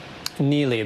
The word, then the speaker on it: Neli: It's called, I think it's pronounced Neely. What's the meaning behind it? Neely, that's right.